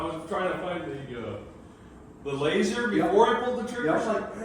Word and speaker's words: LASR: so this is called laser. And it is spelled LASR.